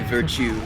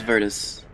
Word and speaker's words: Virtus: say the name yeah it sounds like you want to say virtue virtue bro but now it's vertus all right vertices bros